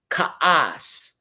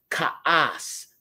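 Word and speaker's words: כעס: The next word is Ka'as, Ka'as, okay? You've got the Kat, you've got the Ayin, and you've got the Samak. That's pronounced Ka'as.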